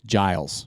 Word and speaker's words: Giles: So it's Georgia G, but it rhymes with Miles. Yeah. So it's Giles.